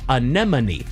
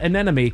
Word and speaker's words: anemone: No, it is not. It is anemone. Anyone? It is not anemy. Cuz that's that's easy to say. Why don't you get down on your anemone?